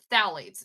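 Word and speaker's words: phthalates: two is uh is phalates so this looks like a really hard word to pronounce um but as as with Latin based things so you don't pronounce the pH it's just thite um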